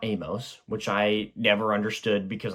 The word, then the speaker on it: Amos: that super good apparently the book is pronounced Amos not Amos which I never understood